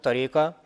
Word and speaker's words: tariqa: again there is no tariqa without sunnah and sharia now you know they use the word tariqa here because it and the ending rhymes with sharia you know so you